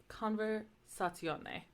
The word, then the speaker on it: conversazione: So, like, the word conversation is pronounced like conversazione, because that ending is pronounced, the Z-I-O-N-E is pronounced like yone. So you would have, like, conversation, it's now conversazione.